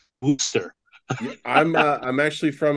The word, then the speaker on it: Worcester: looks like it's but I've been corrected by you know those new englanders it's Worster I'm uh I'm actually